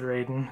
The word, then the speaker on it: Raiden: I said Raiden. It's Raiden, right? It makes me laugh because it's spelled the same way, Raiden, as Raiden from Mortal Kombat.